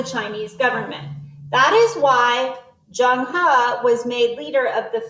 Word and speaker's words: Zheng He: Admiral Zhang He. Born in 1371, Zhang He, and this tells us how it's pronounced. Pronounced Zheng He.